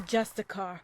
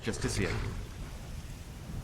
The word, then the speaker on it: Justiciar: He's a Justicar, a Thalmor. It's pronounced Justiciar.